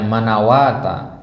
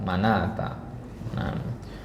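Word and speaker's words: مناة: manata ya manata ya ini bukan bacanya manawata manata kemudian kata yang lain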